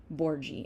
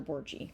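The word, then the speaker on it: Borghi: So, you say my name, Borgie. It's Dr. Borgie.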